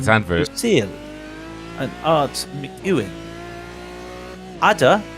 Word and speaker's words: Zandvoort: the F1 Grand Prix at Zandvoort, which is how you say it, Zandvoort, somebody decided to go with the whole BBC way and go, and today the F1 Grand Prix will take place at Zundvoort.